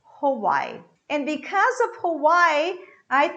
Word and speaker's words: Hawaii: one more hawaii hawaii i have this h that comes from here right i'm going to pronounce a schwa sound that is uh uh so i say hawaii hawaii and because of hawaii